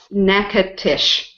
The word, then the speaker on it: Natchitoches: Some people make a joke and say nasty toe cheese. Gross. That's funny. Okay, so it's one of those. It's a kind of a Cajun French. Wow. Natchitoches.